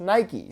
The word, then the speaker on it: Nike: mythology which is pronounced Nike so for those that comment why do you say Nike when you don't say bikie that's because bike is